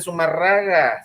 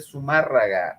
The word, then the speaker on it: Zumárraga: No se dice Zumárraga, se dice Zumárraga.